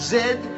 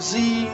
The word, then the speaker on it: Z: And it's pronounced zed, not zee zed unless it's zebra.